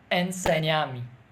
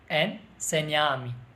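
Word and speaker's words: Enséñame: It's like we will pronounce this N like NY. Enseñame. Enseñame.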